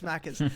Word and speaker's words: Macca's: Oh, am I saying it wrong? Macca's. Yeah, it's Macca's. Yeah.